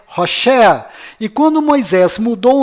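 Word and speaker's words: Hoshea: mudou para Josué mas a pronúncia correta de Oséias é hosa e quando Moisés mudou o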